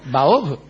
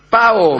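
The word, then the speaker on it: 炮: ¿Baob? Paob. Ah, Paob. Me extraña. No, Pa eso con no P. yo lo estaba pronunciando mal. El tiracohetes es con P, como sabe cualquiera.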